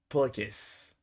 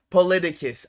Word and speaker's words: Politicus: How to pronounce Polikis? No shot. Really? Polikis? Politicus. Oh, politicus, basically. Oh, okay, got you. I was taking it too much at face value, but that's somewhere around the ballpark.